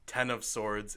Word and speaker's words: X of Swords: the tarot card x-men event which is pronounced ten of swords in night X of swords which both are dumb